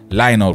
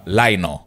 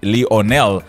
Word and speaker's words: Lionel: Michael Jackson pamoja na Lionel Rich. Bwana wanaitamka Lionel, huku tukisemaga tukimtaja yule Messi basi wote tunasema Lionel Messi, lakini jina la hili linaloandikwa Lionel linatamkwa Lionel. Lionel Rich yeye ndio alikuwa